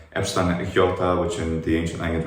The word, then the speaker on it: iota: ancient Greek, demonstrates how many vowels like epsilon iota, which in the ancient language was e, becomes e. It sounds like iota.